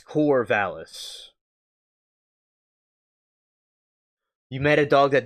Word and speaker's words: Corvallis: You know, see, I'm glad that you helped the pronunciation because I'm thinking it looks something like Corona, but it's not. It's Corvallis.